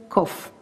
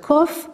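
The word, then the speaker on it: קוף: and here we have kof so be careful both of them you pronounce k if you remember the kaf sometimes you pronounce but kof you always pronounce so kof now you know many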